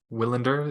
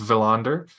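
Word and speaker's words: Willander: with is Tom valander willender is pronounced villander I only know that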